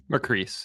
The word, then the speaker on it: Macris: Macris, yeah. Macris, all right. Rhymes with peace.